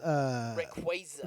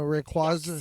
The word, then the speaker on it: Rayquaza: Wait, because I think I pronounce Rayquaza. No, Rayquaza.